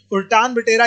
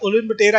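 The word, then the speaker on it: Ulaanbaatar: चलिए अब यहां पर उल्टान बटेरा, ठीक है, हो सकता है कि कंट्री की जो प्रोनाउंसिएशन होती है, ठीक है, प्रोनाउंसिएशन में कभी कभी जो है आपका अलग आपका आता है, तो प्रोनाउंसिएशन में आपकी हो जाती है। बस याद रखिएगा उल्टान बटेरा या उलन बटेरा याद रख लो, बस याद हो जाएगा भाई।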